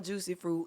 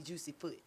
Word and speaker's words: Jucee Froot: what's your instagram handle my instagram is i am juicy fruit and it's spelled ah we know how to spell that part juicy fruit is spelled j-u-c-e-e-f-r-o-o-t cause i've had people call me juicy foot you see low-key not